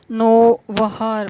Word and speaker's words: نووہار: قرار دیتا ہے، اور اس کا صحیح تلفظ نووہار بیان کرتا ہے۔ اس کے نزدیک برامکا